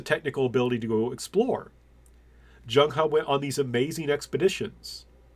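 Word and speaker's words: Zheng He: E A lot of times in Chinese are pronounced like an A so it's not Jang he it's Jung ha I call this China's first missed opportunity to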